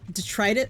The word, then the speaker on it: detritus: Is it detritus? How do you pronounce?